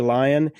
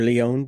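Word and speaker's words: Lyonne: It's the Mystery of the Week show with Natasha Lyon or Leon, depending on how you want to pronounce it.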